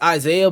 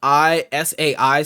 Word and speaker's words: Isai: We're talking about before 2006, and his name is Isaiah, but it's spelled Isai. So a lot of people in the community, not knowing any better, called him Isai, and he never corrected them.